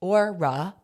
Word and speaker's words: Aura: Aura, pronounced Orura, by the way, is